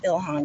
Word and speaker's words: Ilhan: i mean it's it's close especially the the ilhan girl that's how you pronounce her name um close but not and